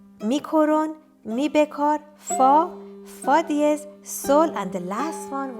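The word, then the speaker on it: dièse: Sharp, we call it diez. It is spelled like D-E-I-E-Z. Diez or diez.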